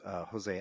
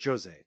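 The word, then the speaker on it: José: One of Connor's biggest fights was against Jose Aldo, or Jose. Yeah. You pronounce the J in the Brazilian Portuguese, against Jose Aldo, right?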